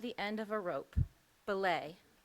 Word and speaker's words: belay: Belay. Is there any alternative pronunciations? Belay is an alternative pronunciation.